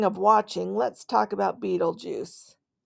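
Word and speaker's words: Betelgeuse: watching let's talk about Beetle Juice pronounced Beetle Juice Beetle Juice Beetle okay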